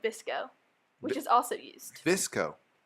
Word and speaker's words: VSCO: Visco. How do you spell that?